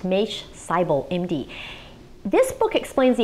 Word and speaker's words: Maish Seibel: His name is pronounced Maish Seibel, MD.